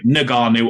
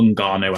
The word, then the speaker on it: Ngannou: So I have got down Francis, and it depends how you want to pronounce his last name, Ngannou or Ngannou. I don't think it really matters. Everyone says it either way.